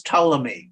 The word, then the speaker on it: Ptolemy: this is this is Ptolemy I mean the p is silent this is Ptolemy Yeah Yeah so basically